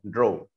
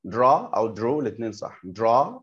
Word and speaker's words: draw: والناس كانت متعوده على منهج تايم فور انجلش فبينطقوها بريتش، بيقولوا درو، والاثنين صح، درا او درو.